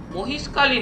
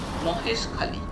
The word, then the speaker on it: মহেশখালী: অনেকদিন আগে আমি গিয়েছিলাম এই অঞ্চলের লোকেরা খে ক এর মতন উচ্চারণ করে মহেশ হয়ে গেছে মহিষ মহেশ খালি তাহলে